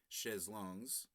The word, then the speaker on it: chaises longues: And chaise longue, right below it, chaises longues, plural, but usually pronounced without the S in French, if you're not familiar.